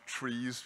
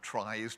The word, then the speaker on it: tries: mistake on the slide I'm told that these are pronounced trees even though they they some people pronounce them tries to make them to